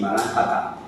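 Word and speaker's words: Maranatha: Es la contestación a la llamada de la Iglesia que grita ven Jesús, que en su original arameo se dice así, maratá.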